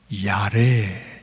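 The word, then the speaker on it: יָרֵא: 이것이 히브리 발음으로는 야레, 이렇게 발음을 한답니다.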